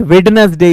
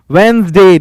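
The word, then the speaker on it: Wednesday: नॉट ट्यूजडे इट्स ट्यूजडे इट्स नॉट वेडनेसडे इट्स वेनसडे D silent होता है इसमें एश वेनसडे हो या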